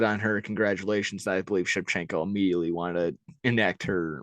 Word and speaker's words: Shevchenko: It's Shevchenko.